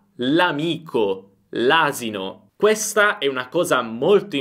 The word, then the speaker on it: l'amico: Pay attention, here we pronounce everything as a single word, "l'amico", "l'asino". This is a very important thing, get used to this sound. If I say "l'amico" I am saying the article + the word "amico".